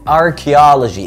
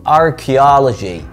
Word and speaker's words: Archaeology: عندنا بعد كده كلية الآثار، ودي بالإنجليش Faculty of Archaeology، ال CH هنا بتتنطق K، Faculty of Archaeology Archaeology.